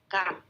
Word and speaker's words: camp: Next month, I go to summer camp. Camp. Mình nhớ là âm A trong Anh Mỹ thì sẽ đọc là e bẹt nhé.